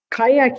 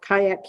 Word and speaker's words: Qajaq: in mid-may is something called kayak camp and it's spelled qajaq which is down on